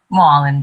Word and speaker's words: Mullen: Mallon, what do you want to do next? Is that me? Yeah, if I mispronounced your name, how do you pronounce your name? Mullen, but it's cool.